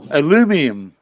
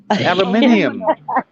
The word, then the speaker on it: aluminium: but you can't you can't pronounce it right aluminum aluminium aluminium aluminium say it one more time aluminium aluminium that's that's that's the queen's english i don't know about